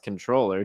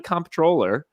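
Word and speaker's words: comptroller: the kind contribution hey Ray com controller is pronounced controller just something I noticed this week that you've said several times lol really I thought a comp controller like a comp controller why wouldn't they just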